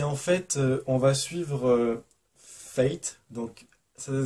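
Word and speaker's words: Phaet: Et en fait, on va suivre Fate, donc ça s'écrit ça s'écrit P-H-A-E-T, mais ça se prononce Fate comme le destin en anglais. Donc Fate va devoir faire un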